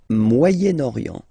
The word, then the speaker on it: Moyen-Orient: So it's interesting here because normally if you would have only this word here, you would pronounce it moyen, moyen, okay? But then as you get this vowel after, okay, you get to make the liaison between the two, le Moyen-Orient, Moyen-Orient, okay?